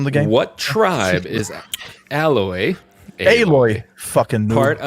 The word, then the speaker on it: Aloy: What tribe is Aloy? Aloy. Fucking noob. Part of. Alloy. Hey, no. Hey. I was. I'm mispronouncing things today.